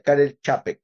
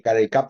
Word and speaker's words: Karel Čapek: que vive en Praga que se pronuncia Kel chap Ah vaya esa se pronuncia como una th yo toda la vida dije carel cap me cuesta mucho decir